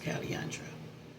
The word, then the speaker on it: Calandre: uh but during that that's uh the iconic pole raandra it's pronounced Caliandra it's iconic from 1969 it so in other